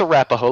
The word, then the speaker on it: Arapahoe: It's pronounced Arapahoe, like the Arapaho Indians.